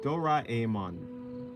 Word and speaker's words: Doraemon: Okay, Ra. So Doraemon. Doraemon. Yeah, okay, so like Ra. Oh, right. Yeah, that's how you say it, I guess. Yeah, it's an A and then E.